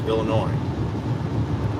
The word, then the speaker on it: Illinois: it's not illinois uh the s is silent there too it's illinois um that's weird what